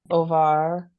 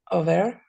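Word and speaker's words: עובר: Now I noticed you pronounced these two the same way. Over? Very good. Over. When you read it, you said var. Oh, Over. That's correct.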